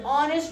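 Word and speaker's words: honest: पूरा वर्ड का उच्चारण करिए। ऑनेस्ट बॉय तो ए को क्या पढ़ यहां पे उच्चारण क्या हो रहा है?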